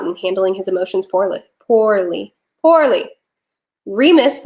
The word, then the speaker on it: Remus: Remus, not Ramus. Sorry. It's my accent. I'm an American.